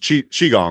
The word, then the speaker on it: Qigong: You've brought up is it pronounced Qigong, right? Yes. Qi is, or the QI is always pronounced like CHI in Chinese medicine. Awesome. Can you speak to some of the benefits of Qigong?